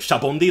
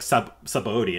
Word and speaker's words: Sabaody: like, that's, huh, like, the way it's pronounced in Japanese, I think, is, like, shabondi, like, you hear it, and you're like, okay, yeah, but, like, it's spelled in English, like, Sabaody, and that's how it's pronounced, and even in the